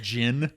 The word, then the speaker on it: djinn: Okay, a djinn. Yeah. The D is silent.